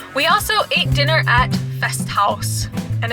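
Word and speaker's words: Festhaus: also ate dinner at fest house and it's spelled the german way h-a-u-s house you have to say it that way best house and um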